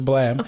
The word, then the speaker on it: Balaam: His actual name is Blam, but it's spelled Balaam.